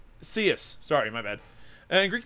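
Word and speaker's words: Coeus: boys in Greek mythology oh it's pronounced seus sorry my bed and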